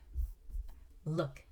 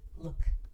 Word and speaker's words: look: Look. Okay, now in this case we have short vowel, even though we have two O's, but we pronounce it as ooh, look. All right, look.